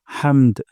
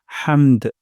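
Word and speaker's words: حَمْد: সাউন্ডটা নিচের দিকে যাবে হামদ হামদ আর হা উচ্চারণ করবো গলার মাঝখান থেকে হামদ রব্বানা ওয়ালাকাল হামদ রব্বানা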